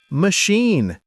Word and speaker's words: machine: Machine. It's a wonderful word. So, let's start with the sound. Everyone listen carefully. Machine. Machine. The stress is on the second part. Sheen. Machine.